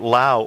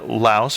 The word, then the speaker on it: Laos: This time we wanted to talk about Laos, or Laos, for those of us who haven't been there and don't know not to pronounce the S.